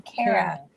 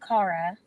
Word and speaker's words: Cara: Because she said it's not pronounced Cara, it's Kara. So just think, when you see C-A-R-A, don't think of car, think of the opposite. Care.